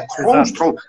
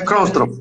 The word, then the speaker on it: Kronström: Eu não sei como é que fala, porque é dinamarquês, né? É Kronström. Tem aquele O cortadinho no meio. Não sei como é que pronuncia o sobrenome dele. É Kronström, tá.